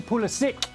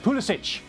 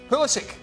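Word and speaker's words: Pulisic: 15 years find it holistic holistic okay like terrific holistic like terrific yeah i mean he's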